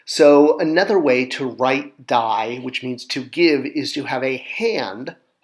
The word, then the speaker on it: di: So one new word we learned last week was die, D-I, but pronounced die, which is a triangle with another triangle in it.